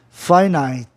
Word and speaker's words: finite: A palavra tem duas sílabas. Para você ouvir melhor, finito, finite. Entendeu? Houve uma dobra do I, né? Dois Is com o mesmo som.